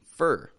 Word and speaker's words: for: for as we're seeing there are two pronunciations it can be for or it can be fur we pronounce this as